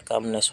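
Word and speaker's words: calm: उसमें कामनेस हो गया। ठीक है? खाली शांति को काम होगा। ठीक है? सी एल एन काम यहां पे एल जो है उसका उच्चारण नहीं होगा।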